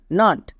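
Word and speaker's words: nut: দেখো এন ইউ টি নাট সি ইউ টি কাট এই দুটি ওয়ার্ডে দেখো ইউ এর দুপাশে দুটো কনসোনেন্ট আছে তাই এর জন্য আকার সাউন্ড হয়েছে এবার বড় ওয়ার্ডের ক্ষেত্রে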